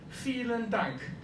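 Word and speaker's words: vielen Dank: Feeling dunk. Feel and dunk. Yeah, you see the V is pronounced like an F. Fel and dunk.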